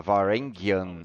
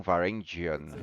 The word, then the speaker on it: Varangian: And this is why we've been pronouncing it in this Old Norse fashion with the RG. That's good. I know during. Falou sobre a pronúncia de Varengian, que em nórdico antigo significa muito leal. Por isso se fala Varengian e não Varangian.